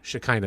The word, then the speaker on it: Shekinah: Shekinah, that's how you say it.